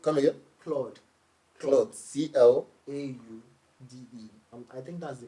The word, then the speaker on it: Claude: Claude, come again? Claude, CLAUDE. I think that's the correct pronunciation.